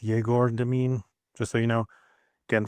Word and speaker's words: Egor Demin: So, yes, it's E G O R is how the name is spelled, but it's pronounced Jagor Dean, just so you know.